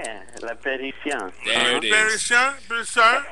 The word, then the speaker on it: La Parisienne: Every time I tell folks about the place, I always say, think of Paris, and then you add the I-E-N-N-E to the end of it. Yeah, La Parisienne.